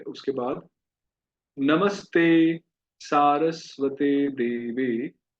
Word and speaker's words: सारस्वते: सारस्वते, तो ये सरस्वती नहीं है, सारस्वती नहीं है, ये है सारस्वते। कहिए सारस्वते। हम प्राय इसको सरस्वती, सारस्वती कई उच्चारण कर देते हैं, पर है सारस्वते।